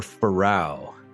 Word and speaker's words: Pharao: We are, is it Pharaoh or Pharao?